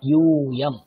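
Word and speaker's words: यूयम्: আমার উচ্চারণ দেখুন, ইউ দীর্ঘ, ইউয়াম।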